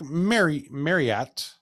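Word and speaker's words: Marryat: man named Captain Frederick Marriott, not spelled like the hotel, M-A-R-R-Y-A-T, Marriott.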